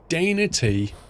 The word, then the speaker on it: Danat: I'm never sure whether to pronounce that as Dana T or Danat. I really am not sure. It's not Daytona though, is it? It's D-A-Y-N-A-T, Danat or Dana T. It's Dana T.